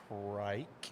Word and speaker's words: Prick: We pronounce it Prike.